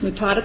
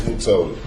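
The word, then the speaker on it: Mutota: It's Mutoda. Mutoda. Mutada. I thought you had told me it was M-U-T-A-T-A. No, M-U-T-O-T-A.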